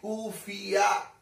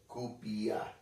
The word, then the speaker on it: kufiya: what they are wearing in their language in their culture they pronounce it kufiya and these people are pronouncing this as kupiya up to this extent